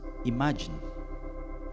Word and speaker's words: Imagine: Imagine, así se pronuncia.